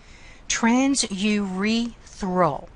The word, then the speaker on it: transurethral: Transurethral. Notice how I'm saying that. Transurethral. I am exaggerating the pronunciation so you can hear all the syllables.